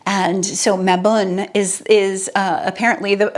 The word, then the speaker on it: Mabon: think of it as mayone um but I was looking it up in MA like cat and Bun like bun and so maun is is uh apparently